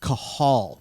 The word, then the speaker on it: Cathal: all day, every day, how do I pronounce this dude's name? And it's Cathal. We've been saying it wrong the whole time.